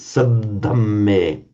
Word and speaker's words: saddhamme: If you remember, you've got to hold both of those as doubled. It's Saddame.